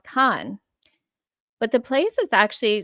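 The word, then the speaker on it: Caen: So to name your city Kain, I'm going to pronounce that Kain, but um they do actually pronounce it Khan, which puts me in mind of Khan like um the Mongols, Genghaskhan.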